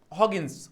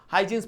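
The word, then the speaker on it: Huygens: उनको हम हॉगिंस प्रोनाउंस करते हैं या फिर हजींस प्रोनाउंस करते हैं। प्रोनाउंसिएशन में कुछ नहीं है। सर हॉगिंस बोल सकते हो। तुम हजींस बोल सकते हो। कोई प्रॉब्लम नहीं है।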